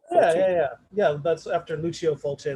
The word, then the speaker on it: Fulci: I think someone tweeted about it a few weeks ago, and then there was another one called by Fulci. I think that's how you pronounce it. Fulci.